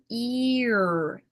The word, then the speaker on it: ear: So here we have e, ear. Mhm, So it sounds like we're making many people confused and think two syllables, but it's not it's a continuation.